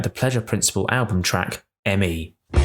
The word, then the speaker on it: M.E.: For this episode of Electric Friends, we look back at the Pleasure Principle album track, ME. Standing for mechanical engineering but pronounced as me in the song as a double meaning, ME is the fifth